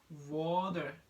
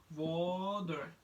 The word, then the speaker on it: water: If T, if the word T is between a vowel, it pronounced like D. It pronounced like D. For example, as I mentioned before, water. Two vowels, water, and you probably say water. It's gonna be D.